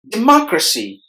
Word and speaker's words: democracy: middle syllable good together democracy democracy there are four syllables in this word and we have distressed a second syllable Mark must be heard with more volume than the other syllables democracy is is the